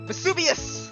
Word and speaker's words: Vesuvius: The I is pronounced with an E sound. Vesuvius!